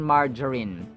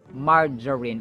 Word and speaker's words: margarine: smou saccharine margarine margarine margarine so the G is pronounced as in J as in hydrogen oxygen Ginger so it's margarine it's not margarine It's margarine yada yada hipol hippo